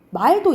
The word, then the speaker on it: 말: 사람 말을 길게 발음해요.